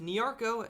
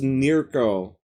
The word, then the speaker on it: Nearco: With Nearco and by extension Northern Dancer Oh, that's how you pronounce that. I thought it was Nearco.